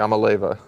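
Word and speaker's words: Iamaleava: I don't know how to pronounce his last name. Everyone knows the quarterback. Yamaleva.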